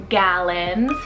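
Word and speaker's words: Galen: saiyan and this one means worthy and deserving gallons g-a-l-e-n gallon this one's greek rooted meaning calm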